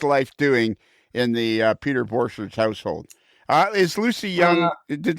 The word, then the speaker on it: Borcherds: Yeah, you're not pronouncing your last name correctly. It's not Borcherds. It's Borcherds. It depends who you speak to.